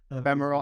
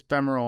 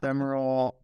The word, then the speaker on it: femoral: that I think it's femoral artery femoral artery yeah but f e m u r a l I think it's or I am but uh spell check says